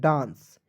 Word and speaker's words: dance: DANCE, तो डी का ड, एक से आ की मात्रा, ऊपर बिंदी का प्रयोग करेंगे एन के लिए। CE का उच्चारण श के रूप में, डांस।